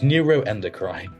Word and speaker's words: neuroendocrine: know what we'll give it to you it's neuroendocrine ah neuro endocine you got all the right